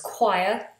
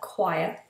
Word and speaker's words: choir: But then sometimes ch is pronounced k, like a k. For example, in the words choir, which is a group of singers together, choir, and chemistry.